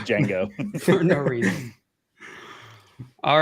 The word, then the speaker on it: Django: It's like Django.